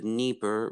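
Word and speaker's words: Dnieper: of places in ukraine if it starts with a d the d is silent so it's the nipper river okay and uh yeah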